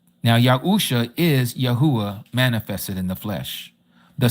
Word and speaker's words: Yahuah: This is why we know his name is pronounced exactly like we pronounce the tribe. Yahudah, Yahuah.